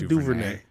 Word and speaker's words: DuVernay: Everyone fucks up her name. Ava DuVernay. DuVernay. I think how you say it.